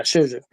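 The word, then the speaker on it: Scherzer: Is that Sherzer? Yeah, Sherzer.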